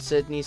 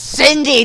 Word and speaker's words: Cindy: this s candy and Sydney's house that it's Cindy not Sydney candy and Cindy's house